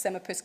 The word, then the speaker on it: Semaepus: So Rich is a co-founder of, and I did ask him multiple times before he came up on stage how to pronounce this, Semipus Games.